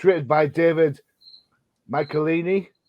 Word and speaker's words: Michelinie: It's written by David Michelinie. Did I say it right? Close enough.